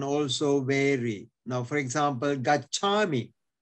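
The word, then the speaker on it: gacchāmi: Now, for example, gachami, go, is pronounced as gesami in Myanmar.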